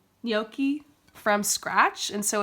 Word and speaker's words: gnocchi: John made gnocchi I think that's how you pronounce it yoky how do you say it John yoki yoky from scratch and so it's like potato and